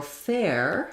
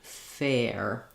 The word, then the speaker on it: fair: So for fair, you may want to think about fair. The other thing that I think is probably helpful for most people is to leave the F off at first. So just try saying air, stay open on that A, air, and then ear, you're going to be more closed. Then once you can say air and ear, add your F sound back, fair and fear.